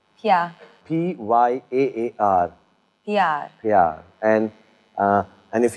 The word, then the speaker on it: प्यार: Pyar. Pyar.